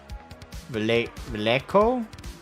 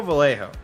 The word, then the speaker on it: Vallejo: According to Wikipedia, it seems it's meant to be pronounced Vallejo? Vallejo? I go Vallejo.